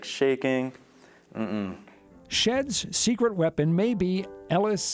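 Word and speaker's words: Shead: We don't have a lot of, like, publicity recognition, like when we went to the competition, they pronounced this as she'd not shed.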